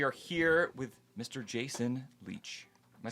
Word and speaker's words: Lech: welcome back we are here with Mr Jason Leach am I saying that that's correct okay I was correct yes it's spelled funny but okay yeah I've heard people